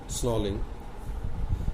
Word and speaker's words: snarling: अब इसके अंदर भी जैसे, अब इसमें बहुत सारे जैसे स्टॉकिंग था, एल साइलेंट था, अब यहाँ भी आर साइलेंट, स्नॉलिंग।